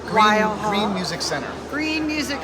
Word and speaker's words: Weil Hall: Wheel Hall? Weil Hall.